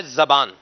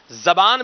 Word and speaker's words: زبان: ہے وہ ہے زبان۔ تلفظ کے اعتبار سے ابھی ابتدا میں ہی عرض کر دوں، زبان بھی پڑھا جا سکتا ہے، زبان بھی پڑھا جا سکتا ہے، کلاہما جاز، دونوں طریقے سے پڑھنا درست ہے، اور معنی بھی